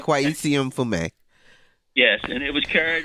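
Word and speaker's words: Kweisi Mfume: His name is pronounced Kwesi Mfume.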